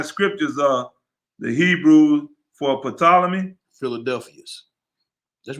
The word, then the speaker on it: Ptolemy: sacred and divine scriptures of the hebrew for ptolemy philadelphus that's right you said it right ptolemy